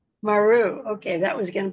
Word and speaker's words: Mier: You pronounce it Maru. Maru.